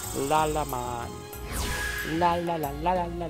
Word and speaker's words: Lalamon: It's Lalamon, not Lalamon. Lalamon.